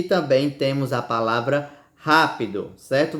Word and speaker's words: rápido: Você pode notar que nós falamos com mais força, certo? A antepenúltima sílaba dessa palavra, não foi, ó? Fígado e é rápido, certo? Fale fígado. Você não vê que é a antepenúltima sílaba mais forte?